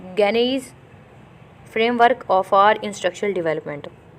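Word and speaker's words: Gagné: अच्छा लगा है, वो गानीज़ फ्रेमवर्क फॉर इंस्ट्रक्शनल डेवलपमेंट है। कुछ लोग उसको गाने भी पढ़ रहे थे, तो आपको जिस तरह समझ आए आप वैसे कर लीजिएगा, ठीक है।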